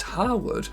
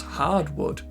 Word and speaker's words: Harwood: And last of all, during the cutscene for the mission Ice Cream You Scream, El Boro mispronounces Harwood as Hardwood.